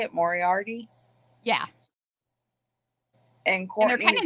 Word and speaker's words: Moriarty: Moriarty yeah is that how you say it Moriarty yeah and they're kind of nice which is